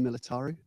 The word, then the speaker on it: Militaru: I didn't know how to pronounce her surname, so I thought I'd just check, but it's Dora Militaru.